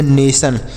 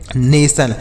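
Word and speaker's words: nation: पढ़ेंगे तो उे पढ़ेंगे नेशन क्या पढ़ेंगे नेशन देखिए अगर कोई शब्द में टी आई ओ एन दिखे आपको तो इसे आपको सन पढ़ना है क्या पढ़ना है सन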